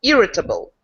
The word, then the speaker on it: irritable: sorry my little comment this stress goes to the first syllable irritable thank you yes there